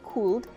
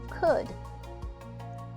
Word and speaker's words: could: repeat that slower please when you say could the l is silent we do not say cooled we say could when we use could